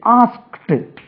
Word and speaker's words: asked: ஏ எஸ் கே இடி இதை இதை வந்து ஆஸ்க்ட் இட் என்று உச்சரிக்கணும் இது கஷ்டமா இருந்தா நீங்க ஆஸ்க் இப்படியே உச்சரிடனும் ஆஸ்க் இது கரெக்டான உச்சரிப்பு ஆஸ்க்ட் ஆஸ்கட்ன்னு சொல்ல வராது பாருங்க